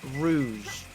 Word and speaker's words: Rouge: Because Rogue One. Shut the fuck up with you and your wrong ass pronunciations that we've corrected you on like 90 times.